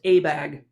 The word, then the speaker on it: ABAG: bay area governments and it's pronounced abag and one of abag's